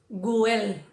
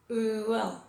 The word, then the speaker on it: well: Tener cuidado no hacer el g, guel o wasp. No, es well, wasp, wood, wound.